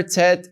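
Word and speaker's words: טית: the letter tet and the letter tet is pronounced as a t kind of like Tom for example tet as in t as in Tom just as an example olive bet game hey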